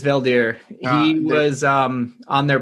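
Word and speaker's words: Veldheer: the guy that um did i say his name is yeah it's valdere he was um on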